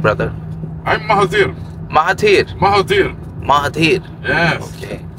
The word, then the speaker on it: Mahathir: I'm Mahathir. Mahathir. Yes. Okay. It's same pronunciation like our ex-prime minister.